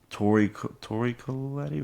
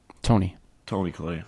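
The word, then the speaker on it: Toni Collette: Mark Ruffalo, Tori Collette, right? Tony Collette. Close. I always butcher the director's name.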